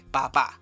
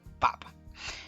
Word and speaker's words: papa: bien Qué significa padre solamente que el acento no está en la última sílaba sino que está en la primera no es papá sino papa Entonces esta iglesia católica